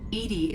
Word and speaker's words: EDI: Why are you named Edie? Edie is the phonetic pronunciation of EDI.